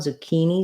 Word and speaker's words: zucchini: so 1k will do the ch just says the k sound this first letter i says e and so does the second so short long short zucchini um yes i